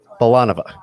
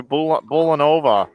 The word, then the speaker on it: Bulanova: Bulanova? Bolanova, yes. Bolanova. Yes, it is. Yes, it is. She just said to me. She heard me. Bolanova. Why didn't you correct me when I called you Bulanova for years at the Southland Bowling League?